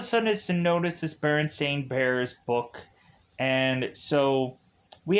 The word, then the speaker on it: Berenstain: well isn't the bear isn't it berenstein bears and brandon's like no it's a berenstain bears okay i thought it